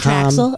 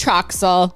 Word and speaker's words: Troxel: Is it Traxel? I thought it was Trishelle. It's Troxel. Yeah, Anyways, but we don't know anything. It's spelled weird.